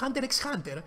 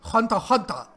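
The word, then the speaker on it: HUNTER×HUNTER: Α, ναι, και όντως από την αρχή το λέω Hunter x Hunter. Κανονικά ο τίτλος είναι Hunter Hunter. Το X δεν προφέρεται. Το X είναι ουσιαστικά κάτι σαν γενό, ας πούμε.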